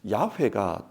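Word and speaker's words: 야훼: 하나님의 이름을 야라고 읽습니다 한글 성경에서는 여호와 그렇게 기록하고 있는데 요즘 신학자들은 야외가 더 정확한 발음인 것 같다 그렇게 말합니다 자 그렇다면 야외의 뜻이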